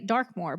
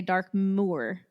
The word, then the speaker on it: Darkmore: So, of course, we're all going to say Darkmore, but they want to say Dark Moore.